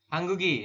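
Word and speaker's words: 한국이: Jadi nanti dibacanya adalah seperti ini. Hangguk terus ditambah dengan en. Atau ya Yorobun. Atau hangguk kemudian tambah dengan i seperti ini. Hanggugen ya, hanggugen seperti ini dibaca. Nanti ini hanggugi seperti itu. Perubahannya jika ditambah dengan partikel subjek maka dibacanya itu jadi hanggugen. Ya, kemudian yang ini hanggugi seperti itu. Bukan hangguk bukan hangguk en, tapi hanggugen seperti itu. Jadi gioknya ini naik ke sini nanti dibacanya.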